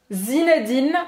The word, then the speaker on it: Zinedine: Zinedine, então eu não vou pronunciar esse E no final, eu não pronuncio o E no final, tá? Zinedine. Zinedine. Então vai terminar a pronúncia no N, tá?